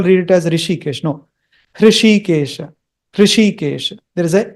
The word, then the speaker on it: Hrishikesha: Remember, it is not Rishikesha, it is Hrishikesha.